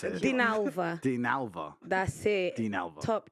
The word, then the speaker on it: Dinalva: I can't pronounce it. Dinalva.